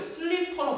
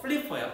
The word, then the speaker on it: flipper: 애들이 이거를 슬리퍼로 발음하는데 전혀 아니야. 전혀 상관없어. 알겠지? 어. 플리퍼야. 플리퍼가 이제 그 바다 오리발